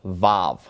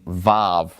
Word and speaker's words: Vav: So just think of Vav as being either a V sound. If it's pronounced as a consonant, it's going to be a V sound. Otherwise, this one could be silent. So just be aware of the fact that this one is sometimes a silent letter, Vav.